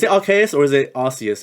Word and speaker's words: Arceus: are chaos is it rks or is it arceus it's rks right yes yes okay yeah yeah okay i